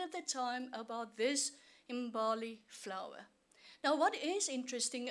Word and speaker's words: Mbali: Now, in terms of Mbali, and I'm going to pronounce it on 2 ways, the ways that the VC prefers it Mbali.